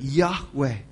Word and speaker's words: Yahweh: We're not 100% sure how to pronounce it, but Yahweh. Y-H-W-H.